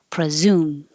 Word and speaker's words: presume: are back Ransom Ransom presume the pre is not stressed so the E changes to uh presume and you need a good Z in there presume so there's two